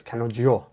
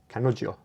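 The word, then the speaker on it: 彼女: And I think my tutor told me that the J is pronounced like a J and a Y, so it's kanojo, kanojo.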